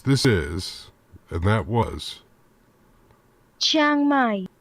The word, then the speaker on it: Chiang Mai: Or to get it officially correct, this is, and that was Chiang Mai. Chiang Mai. Why do I keep on adding a syllable? Chiang Mai.